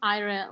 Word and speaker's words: Ira: say your name properly it's just Ira like in Spanish it's the wind Ira Ira okay first name